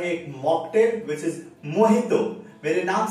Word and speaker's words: Mojito: बात भी बताता हूँ, मोहितो जब लिखी जाती है तो उसकी स्पेलिंग में जे होता है, एच कहीं नहीं होता है। तो कुछ लोगों को लगता है कि जो मोहितो बोलते हैं वो गलत बोलते हैं, बट एक्चुअली मोहितो वर्ड जो जे के साथ